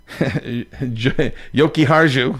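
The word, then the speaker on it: Jokiharju: Uh, Henry Yoki Haru, there we go.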